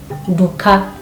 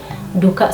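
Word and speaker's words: nduka: For example, we have the word like shop, duka, duka. So you can say duka or duka, okay? N is silent, but you must always use D with N, duka, shop.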